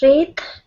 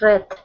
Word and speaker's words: read: The first one is read, and the second one is red, like the color.